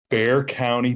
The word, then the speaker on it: Bexar: So Rod is from Bear County in Texas, but it's spelled Bexar. So if you're going to go look him up on Instagram or anything, you better look it up as Bexar, but it's Bear County.